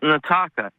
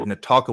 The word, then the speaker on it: Nataka: Yeah, and it's pronounced Nataka. Nataka. Okay. I had a screener note that said Natalka with an L, but Nataka, I will remember that.